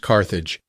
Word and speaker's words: Carthage: Before she parted, she named her new town Carthage, today pronounced Carthage. It means new city in the Punic language.